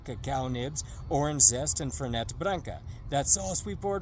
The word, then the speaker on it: Fernet: eyes and said, Johnny, it's pronounced Fernet Branca. Not Fernet. No, it's Fernet. The rest of the world says Fernet. They also say Gal Gadot and Brett Favre and Babe Newworth, but it's actually Fernet.